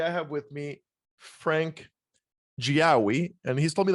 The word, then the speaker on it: Giaoui: And today I have with me Frank Giaoui.